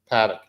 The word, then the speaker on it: Patek: And then also, is it Patek or is it Paddock? It's Paddock. Paddock.